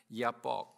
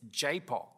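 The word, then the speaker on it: Jabbok: I grew up pronouncing it Yapok, but apparently it's Japok, or whatever way you pronounce it.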